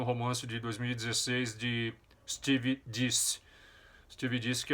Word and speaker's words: Deace: Steve Deace, pronuncia-se Deace.